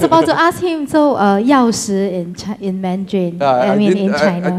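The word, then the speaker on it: 钥匙: I was about to ask him, so 钥匙 in Mandarin, in China. I thought someone... How is it pronounced? It's not 锁匙, but 钥匙, right?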